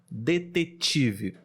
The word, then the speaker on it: detetive: treinar esse sons né mesmo são parecido com tchau tchau então você pode usar essa Associação detetive por exemplo detetive de obter tt-ii detetive mais um exemplo é